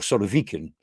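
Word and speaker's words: Surovikin: the top left is severikin or sort of vegan um in Russian pronunciation he's actually an Air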